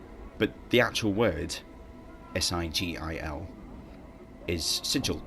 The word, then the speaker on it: sigil: But the actual word, S-I-G-I-L, is sigil, like a badge or emblem.